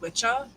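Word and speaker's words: wicca: So, the the word wikah um actually comes from old and middle English, but it would have been pronounced witchah.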